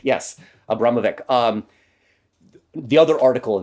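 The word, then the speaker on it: Abramović: to Marina Abra I can't say her name Abramovic yes Abramovic um the other article in the times uh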